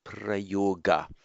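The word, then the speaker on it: प्रयोग: Just as from the root yuj we get yoga, so equally from prayuj we get prayoga. And in fact, in modern Hindi, prayog, remember in modern Hindi the final a isn't pronounced, it's the same as the Sanskrit word, but without the final a.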